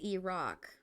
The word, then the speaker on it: Iraq: one Iraq oh okay so it's E-Rock Iraq and Iran Iraq and Iran makes